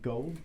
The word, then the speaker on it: Gould: And tonight you'll notice our new guest, Miss Morgan Gould. Gould. Gould? I always Yes. want to mess Gould. up Gould. It's not gold. There's a U in there.